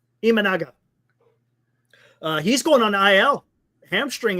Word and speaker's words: Imanaga: It's not Imanaga. What is it? Imanaga.